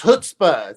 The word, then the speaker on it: chutzpah: You married someone who had chutzpah, right? Right. They had what again? It's called it's chutzpah. Chutzpah.